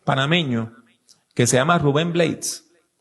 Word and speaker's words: Blades: Hay un cantante y actor panameño que se llama Rubén Blades. Y en América Latina, pues, pronuncian el apellido en español, Rubén Blades.